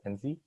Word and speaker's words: Enze: So my name is Enze. It's spelled E-N, Z-E. And to help you remember the pronunciation, you can just look at the middle 2 letters, so N-Z.